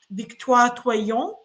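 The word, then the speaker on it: Victoire Tuaillon: My feminist allo friends are obsessed with this author that I think is, the name is pronounced Victoire Toyon, that created like a podcast about Le Cœur sur la table, about romantic love and relationships, rethinking them.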